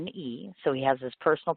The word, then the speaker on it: Blackbyrne: you, just because, and I'm going to guess it's Blackbyrne. Did I pronounce that right? I don't want to screw it up. Yeah, Blackbyrne, yeah. Okay, good. Which is Blackbyrne.